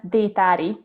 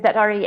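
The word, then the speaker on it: Détári: I was all excited to pronounce it the Hungary way, and I ruined it.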